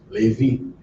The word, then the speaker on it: Levi: Levi, which is spelled the same way in Creole, but it's pronounced the same because the E makes the sound A in Creole.